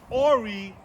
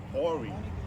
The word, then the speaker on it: Horry: Horry County, the H is silent. I just learned that. I used to say Horry. So Horry County.